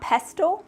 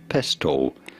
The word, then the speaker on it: pestle: Pestle is generally acknowledged to be how it is to be pronounced. However, some people pronounce it as pesto, which is also fine.